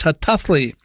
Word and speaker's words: Hataałii: double A L double I spelled her tally pronounced her toughly you can also spell it in the more